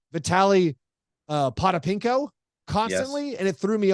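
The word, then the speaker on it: Potapenko: What's the proper pronunciation of Vitaly Potapinko? Pete? Yeah. And he said it's Potapinko.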